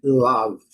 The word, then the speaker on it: love: uma sílaba só, mas eles usam esse símbolo aqui para dar assim uma sensação de de mistura de a com u, uma coisa assim, love, love, observação.